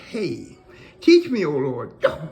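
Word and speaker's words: ה: heart say number five this is pronounced hey teach me oh Lord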